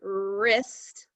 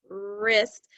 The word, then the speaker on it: wrist: that sound we have the er sound like in the word wrist wrist but it's spelled with a w r wrist and again that